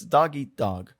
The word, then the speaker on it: dog eat dog: So it's dog eat dog. There's this very small pause there. A glottal stop.